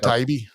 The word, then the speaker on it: Taibbi: Matt Taibbi. I think it's Taibbi. That's how I hear it pronounced.